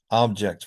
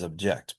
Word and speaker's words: object: So I'm going to give you some pairs of words, and on the left, you'll see nouns that have primary stress on the first syllable, and verbs have it on the second syllable.